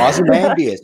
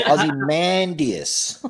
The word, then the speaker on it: Ozymandias: Ozymandias, and it's Ozymandias.